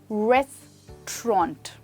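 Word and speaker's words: restaurant: Actually कहा जाता है रेस्टोरेंट। दैट्स राइट दोस्तों, यहाँ पे साउंड देखिए, ओ, ऑन्ट। फिर से बोलिए, रेस्टोरेंट।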